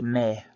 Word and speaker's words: me: go break it down the first word is pronounced may like the month it's spelled me but you pronounce the e at the end with an a sound like you would in May so first word again